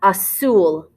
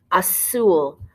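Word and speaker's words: azul: options okay we have a soul a soul when you're doing the z make sure you have an s sound and so you have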